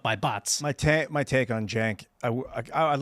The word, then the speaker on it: Cenk: Cenk.